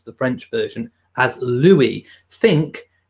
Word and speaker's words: Louis: the French version as Louis think L double O and then w ee Lou we if you say Lou and we and put it together you will get the right pronunciation it's Louis so yes it's not